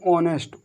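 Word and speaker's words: honest: देखो यहाँ पर भी ईयर, ओवर, हावर नहीं ओवर, ओवर, हॉनेस्ट, हॉनेस्ट नहीं ऑनेस्ट, ऑनेस्ट।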